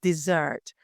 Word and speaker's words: dessert: small little uh difference so one is Desert the other is dessert um so your the intonation is on the first e in the first case and on the second in the second case and also one has